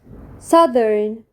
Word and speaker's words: southern: كلمه جنوبي جنوبي يعني سذرن سذرن سذرن سذن سذن سذن ذرن ذرن ذرن ذرن ذرن ذرن ذرن التي اتش في كلمه جنوبي بتتنطق ذا يبقى التي اتش في